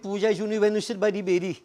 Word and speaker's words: puja: life many hindus believe puja has two syllables per anja papa national